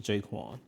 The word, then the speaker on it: J'Qwan: And that's how we landed on pronounced jaquin.